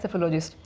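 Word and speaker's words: psephologist: P silent है सेफोलॉजिस्ट।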